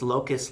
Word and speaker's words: Locus: provided for the community is it Locus like the bug yes it is MHM it's also sounds like something actually no it's not Locus like the bug sorry it is I just had to spell that again in my head it's Locus like Focus but with an L yes because that word